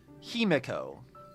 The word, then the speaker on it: Himiko: I don't know that I I particularly like the way they pronounce Himiko's name. Heo. Like, I don't I don't think it's wrong, but that's I've always pronounced her name Himiko, and it always strikes me as like odd when they say Heo instead.